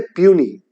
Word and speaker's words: puisne: है इंग्लिश में क्योंकि इसकी स्पेलिंग होती है पी यू आई एस एन ए लेकिन इसको हम पढ़ते हैं पियूनी इंग्लिश में इसको हम